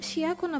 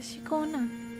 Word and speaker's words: Shikona: अरे उसका younger version शिकोना का, हम शिया को ना बोल रहे थे, शिकोना ऐसे प्रोनाउंस करते हैं इसका नाम।